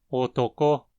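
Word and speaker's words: おとこ: Otoko. O acento está na mora final, ko, que precisa ter uma frequência alta. A primeira sílaba vai ter uma frequência baixa e a segunda vai ter ela alta também.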